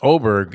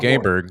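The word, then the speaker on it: Åberg: on lvic aberer it's it's pronounced oberg even though it looks like aberg yeah they got the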